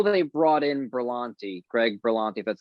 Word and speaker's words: Berlanti: i i know they brought in berlanti greg berlanti that's how you say his name from the